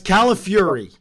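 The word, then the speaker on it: Calafiore: give you to you because my last name technically does mean cauliflower but it's Cala Fury oh well that is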